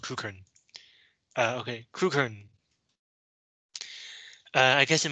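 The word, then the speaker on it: Crewkerne: But in England, or I should say in the UK, many place names are so old that their pronunciations have changed over time, even though the spelling has not. So the way that it is spelled is not always the way that it is pronounced.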